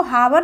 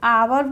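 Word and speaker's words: hour: पर आया आवर आवर ओ से पहले आ जाए तो इसको हावर नहीं पढ़ेंगे आवर पढ़ेंगे ऑनेस्ट ओ से पहले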